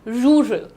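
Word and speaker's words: rural: डू you pronounce it रूरल okay how डू यू से इट र एक होता है जो तुम अपनी टंग को देखो यह बहुत बड़ा काम सिखा रही हूं जो आपकी जुबान है इसको थोड़ा पीछे पुल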